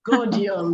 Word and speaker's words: Gaudium: Gaudium, that's how to pronounce it.